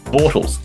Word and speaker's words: Bortles: this week I think top five maybe Mr Bortles in fact it's just it's spelled puid but it's pronounced Bortles fantasy it was a really really good double